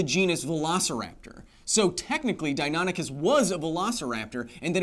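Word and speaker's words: Deinonychus: Dionicus is Dionicuses live in the entire history of dinosaur paleontology. So Dionicus here correct pronunciation as many of you have told me would uh stand about this height to you.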